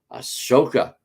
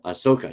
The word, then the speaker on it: Ahsoka: cannot wait till Wednesday Ashoka Asoka Ahsoka yeah I said it right Ahsoka premieres on Disney